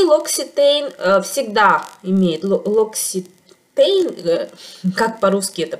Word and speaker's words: L'Occitane: И L'Occitane всегда имеет L'Occitane, как по-русски это произносится, L'Occitane, всегда имеет почти вот этот аромат в своей линейке.